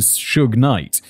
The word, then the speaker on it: Suge Knight: He was also a childhood friend of both Eazy-E from NWA and Suge Knight, pronounced like the first syllable of sugar.